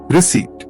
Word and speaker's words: receipt: Receipt. The P is silent.